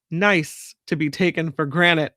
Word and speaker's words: Nice: Donna says niece is pronounced nice.